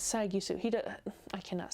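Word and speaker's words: Sagisu: another one with shiro sai sai gisu it's sagusu he i cannot say his name i'm so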